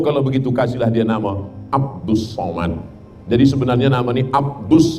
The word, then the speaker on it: Abdul Somad: awak yang salah baca tulisannya Abdul Somad tapi membacanya adalah Abdus Somad ah jadi nama ini